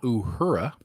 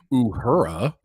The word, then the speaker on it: Uhura: It just sounds so white when I say it like Uhura. You know that Uhura girl? That's not the way they're going to say it in Africa. It's an African name.